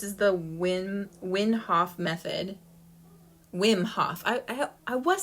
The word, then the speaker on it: Wim Hof: backwards but this is the win winhoff method wim hof i i i was saying it right i always thought i was saying it wrong wim w i am hof method wim hof method it's amazing so he's got a guided